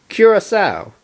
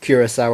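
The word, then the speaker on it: Curaçao: Curacao? The Blue Earth pony corrected. The second C is pronounced like S, oui?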